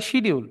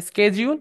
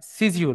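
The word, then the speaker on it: schedule: জয় হিসেবে উচ্চারণ করতে এটা আমরা বলি শিডিউল শিডিউল না এটা হবে স্কেজউল বা স্কে বা সিজিউল বলা এটা কোন কোন জায়গায় সিজিউল বলে কোন কোন জায়গায় স্কেজুলে বলে হ্যাঁ একটা হচ্ছে ব্রিটিশ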